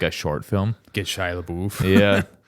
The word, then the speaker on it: Shia LaBeouf: Get Shia LaBeouf. Yeah. Shia LaBeouf.